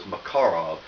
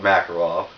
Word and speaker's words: Makarov: in 9 by8 yes the correct way to pronounce the name is macarov because I'm a typical American redneck you probably are too I call it macarov everybody does so you can call it that